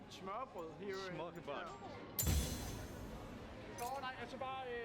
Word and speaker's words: smørrebrød: gonna need you to help me pronounce it again. Smørrebrød. Smørbrød here.